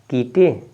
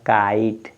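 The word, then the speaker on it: kite: इसको आप पढ़ेंगे क्या किटे किटे नहीं लिखा है काइट लास्ट में देखिए ई साइलेंट है क्या है ई साइलेंट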